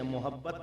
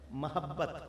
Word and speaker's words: محبت: سے محبت ہو گئی، میم پر زبر ہے، پیش نہیں ہے، محبت نہیں ہے، بلکہ کیا ہے، محبت ہو گئی۔ وَأَلْقَيْتُ عَلَيْكَ مَحَبَّةً مِّنِّي،